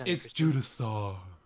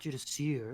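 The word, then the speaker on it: Judiciar: It's Judisaur. It's Judisaur. Judisaur. Go ahead. It's not Judiseer, it's Judisaur.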